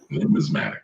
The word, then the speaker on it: numismatic: Numismatic.